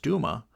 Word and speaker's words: Duma: And the constitutional Democrats obtained a crushing majority in the Duma, pronounced Duma, such a majority that the Russian government is now perplexed as to what is to be done next.